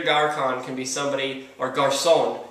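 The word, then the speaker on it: Garçon: can be somebody or Garson is how you say it Pier Garson would be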